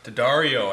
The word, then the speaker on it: D'Addario: D'Addario, I think that's how you pronounce that.